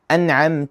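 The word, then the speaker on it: أَنْعَمْتَ: an'amta alayhim Notice how I pronounce the letter noon in an'amta as it should be pronounced and I left it as it is, as it's pronounced normally in Arabic.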